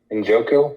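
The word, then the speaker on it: Njoku: to pronounce his name in joku is how you pronounce David joku yep yeah he's been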